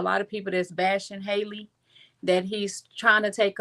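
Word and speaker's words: Halle: I always have to put emphasis on how I pronounce her name because I keep wanting to call her Hie. So, Haley Bailey.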